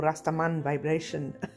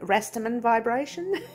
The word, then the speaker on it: Rastaman Vibrations: as restaurant vibration or rastaman vibration depends on how you want to pronounce it you can pronounce it like the australians do rastamin vibration or you can pronounce